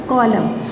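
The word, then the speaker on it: column: एम आ रहा है, एंड में आएगा एन और उससे पहले एम होगा तो एन साइलेंट हो जाएगा। Autumn, hymn, कॉलम, autumn, hymn और कॉलम, इनमें एन आपका साइलेंट है।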